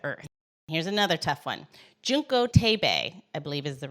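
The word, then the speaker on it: Junko Tabei: Junko Tabe, I believe is the right way to say her name.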